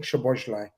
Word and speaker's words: Szoboszlai: I had a Hungarian journalist, all right, the other day, and he taught me how to say it. So Dominic Szoboszlai, Right?